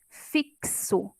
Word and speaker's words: fixo: exemplo EA palavra fixo o x aqui representa o som do KS fixo notem aí tenho quatro